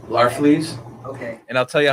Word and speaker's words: Larfleeze: Agent Orange, how do you pronounce his name? Larfleeze.